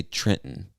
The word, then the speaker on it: Trenton: this state is trenton some people would say trenton i would say trenton so that second t becomes silent basically or like uh trenton yeah becomes silent we don't pronounce it like a normal t so we would say